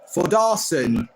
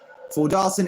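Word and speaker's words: Þórðarson: loan from leads United forar that's how his name is pronounced forar is the Icelandic player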